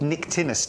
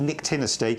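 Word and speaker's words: nyctinasty: it's like it's uh it's not pronounced anything like it's spelled so it's a really weird spelling but yeah it's called Nick tiny and a lot of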